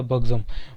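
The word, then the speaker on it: buxom: Next है हमारा बग्ज़म, ठीक है, प्रोनाउंस क्या करेंगे दोस्तों, ध्यान से सुनिएगा, बग्ज़म।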